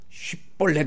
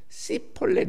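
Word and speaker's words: שיבולת: 쉽볼렛 이렇게 발음해봐라. 이 히브리어 중에 쉬하고 쉰이라고 하는 단어가 모양이 똑같습니다. 생긴 건 똑같은데 점이 다르게 찍혀 있어요. 그런데 쉽볼렛이라고 이렇게 발음을 하라 하니까 그 발음을 못하는 거예요. 에브라임 사람들은 시폴렛 이렇게 하는 거예요.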